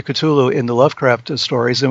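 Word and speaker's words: Cthulhu: means and we have culu the way I pronounce it anyway Kulu in the Lovecraft stories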